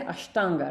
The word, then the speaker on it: Ashtanga: we say Ashtanga right the Shakara there are two different types of shakas one is the sha as in you know ship fish those things sharp that the other one is sha rolled sha it is retroflex that his tongue is rolled in to touch the upper pallet sha so in Ashtanga or